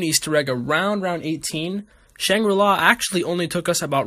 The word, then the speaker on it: Shangri-La: welcome to shrinky law it's pronounced shangri-la not shrink brilla this map is of